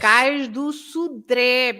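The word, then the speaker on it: Cais do Sodré: And so it's Cais do Sudré. You stress the last E, Sudré. And you open the vowel. You open the vowel E because of that.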